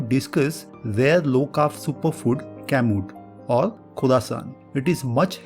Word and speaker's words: Kamut: and other important information about this rare superfood pronounced mood kamut is an ancient type of wheat grain is